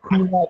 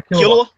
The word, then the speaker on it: Killua: And it says here that yeah, by the way, that Kula, I think it's they pronounce his name, the one with silver hair. Yeah, Killua.